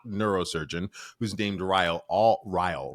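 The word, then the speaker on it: Ryle: who's named Riley all Riley Riley which is rhymes with Kyle which I think is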